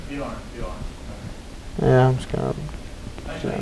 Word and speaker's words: Björn: Bjorn. Yeah, I'm just gonna. Are you in tennis, by the way? Yeah, I am. And in Sweden, they pronounce it Björn. And in Germany, also Björn. It means bear.